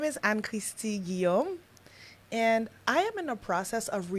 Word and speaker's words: Anne-Christie: Anne-Christie. I really like when people call me Anne-Christie. The whole thing. Not Anne Christie.